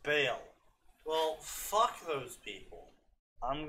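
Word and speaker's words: Baal: If they're gonna spell it B-A-A-L, I'll pronounce it. Oh no, that's 100% Ball. If they want to be pronounced Bale, then maybe their name should have been Bale instead of Ball.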